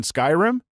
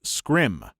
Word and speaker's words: Skyrim: said Oh you mean Skyrim he laughed condescendingly and said no I mean scrim thinking he was just mistaken I was like oh no it's called Skyrim no it's not it's pronounced scrim at that point I